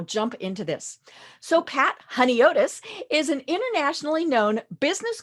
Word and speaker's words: Honiotes: in welcoming patricia honeitis to our program today honey otis there i said it right um so welcome